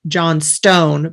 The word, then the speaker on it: Johnstone: it's and then uh it's actually spelled John Stone but pronounced Johnston um so that's j-o-h-n-s-t-o-n-e um so